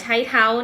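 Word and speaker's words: 菜头: กาด หรือ ว่า หัว ใช้ เท้า นะ คะ ใน ภาษา จีน แต้จิ๋ว ค่ะ ออก เสียง ว่า ใช่ เทา และ ใน ภาษา จีน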